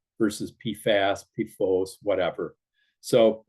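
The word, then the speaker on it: PFOS: about posos and pooa pronounce posos with long o and then you'll people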